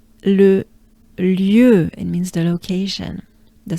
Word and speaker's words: Le lieu: Le lieu, it means the location, the site, the place. Le lieu.